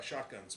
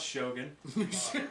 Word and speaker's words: Shogun: sorry uh it wasn't as good as uh shotguns but uh it was shot pretty pronounce Shogun thank you did you just assume my speech